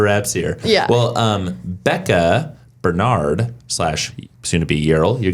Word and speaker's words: Barnard: And you pronounce it? Bernard. And how do your parents pronounce it? Bernard. And how did you pronounce it when we were getting ready? Barnard. Yeah. Yeah, that's probably the most correct pronunciation from like a uh like a phonetic pronunciation.